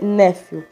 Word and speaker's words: nefil: Isso aqui se pronuncia néfil, que significa cair.